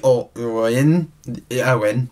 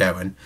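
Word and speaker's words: Eoin: essentially I'm hoping that EO Oh e Owen is probably how it's pronounced just Owen I'm hoping that he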